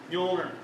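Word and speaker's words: Mjölnir: Now, if you're having trouble pronouncing it, just pretend the J is a Y. Okay, Mjolnir. So.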